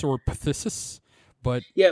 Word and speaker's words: phthisis: It's either phthisis or phthisis, but yeah, like, let's go with consumption. I feel like the P would be silent. I feel like the P would be silent, like pterodactyl.